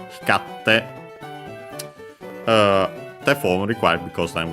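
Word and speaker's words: 光って: Hikarite, but then the i fell. Hikarte, difficult to pronounce, so it became simply double consonant te. Hikatte, te form required because then we had iru, so yeah, continuing action or state.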